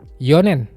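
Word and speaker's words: 四年: Yonen, 4 tahun.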